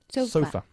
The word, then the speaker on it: sofa: Y sofá, en inglés, pues ponemos el énfasis en la otra sílaba. Sofa.